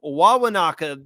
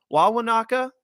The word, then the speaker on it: Wawanakwa: are going to Camp Wawanakwa this season. Did I say it right? Wawanakwa? Yeah. Wawanakwa, whatever kind of flair you want to put on it, I feel like is absolutely more than acceptable.